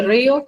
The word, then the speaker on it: río: Lleva tilde en la vocal cerrada o débil. Al llevar tilde una débil se convierte en fuerte y según la regla del hiato, dos fuertes no pueden estar juntas, entonces se separan. Entonces río tiene dos sílabas.